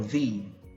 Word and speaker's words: the: for some now this this word has two pronunciations again can be the or thee now what is the rule the rule is if the word starts with a vowel like AEIOU then we have to